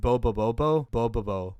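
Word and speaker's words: Bobobo-bo Bo-bobo: examples are Gintama and Bobo Bobo Bobo both of these series that's how you say it like I love Bubble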